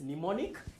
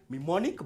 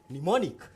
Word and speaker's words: mnemonic: the word mnemonic so m is silent we don't say memonic but we say mnemonic so when you talk